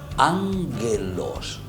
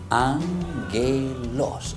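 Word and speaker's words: ἄγγελος: Es también una palabra griega, ángelos. Escuchen bien, ángelos, así se pronuncia, queridos niños.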